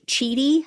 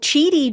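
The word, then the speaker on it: Chidi: Journalist George Cheedy, I think is how you pronounce his last name, he just announced that he's been issued a subpoena to appear.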